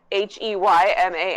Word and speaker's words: Heyman: I definitely spelled Heyman, Heyman, like hey man.